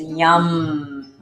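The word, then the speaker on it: Yam: And the sound vibration is yum. Y-A-M, but pronounced Y-U-M.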